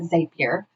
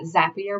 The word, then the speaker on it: Zapier: will shamelessly admit that in the beginning I called it zapier but just remember that zapier rhymes with happier because this is truly